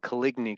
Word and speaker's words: Coligny: I'd have to look that up, but it's called Caligny calendar. It's spelled Coligny.